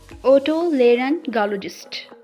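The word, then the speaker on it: otolaryngologist: है, लेकिन इसको हम कुछ इस तरीके से प्रोनाउंस करते हैं, ओटोलेरिंगोलॉजिस्ट, ओटोलेरिंगोलॉजिस्ट, ओटोलेरिंगोलॉजिस्ट, जो कि कान नाक गले का डॉक्टर कहलाता है।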